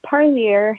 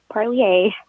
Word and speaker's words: Parlier: Also, just a helpful little hint of mine, it's Parlier, not Parlier. Unfortunately, it doesn't have that French sound like some have been pronouncing it. Continuing forward, the Merced Fresno